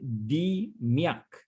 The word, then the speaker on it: DMAIC: only popular in the approach is the i pronounce d miac dmaic define problem measure analyze improve control so